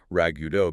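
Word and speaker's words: ragout: But etmologically it gets that completely non-phetic pronunciation rago because it's a direct lift from the French word ragut right which means to revive the taste. The English language took the spelling directly but just kept the French pronunciation leaving us with this weird visual trick.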